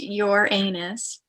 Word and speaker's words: Uranus: aunt what why so uranus who is sometimes pronounced your anus for the sexy chapter which is closer i guess to the truth um was a titan